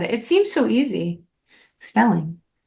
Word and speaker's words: Stelling: I speak with somebody whose last name rhymes with my last name my last name is Elling your last name is Stelling uh you actually went